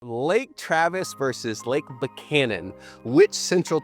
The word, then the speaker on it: Travis: But Travis is just Travis.